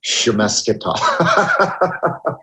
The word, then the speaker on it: Svechnikov: You're really good at pronouncing it. Svechnikov. You're like a little American Don Cherry right now. Svechnikov.